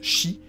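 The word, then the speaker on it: 死: Number 4 a l'idéogramme de la mort, qu'on prononce Shi, comme le chiffre 4.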